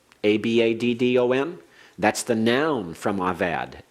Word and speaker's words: Abaddon: avad he perished uh when you talk about Abaddon a-b-a-d-d-o-n that's the noun from avad Abaddon means destruction